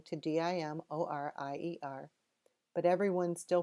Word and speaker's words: Dimorier: how to pronounce it hundreds of years ago in France it was dem ra over a couple of hundred years it was changed to Demarest Demery and finally di mo RIE are that last version